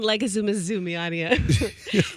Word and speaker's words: Leguizamo: It's John Leguizamo. He's a great actor. You mean John Leguizamo?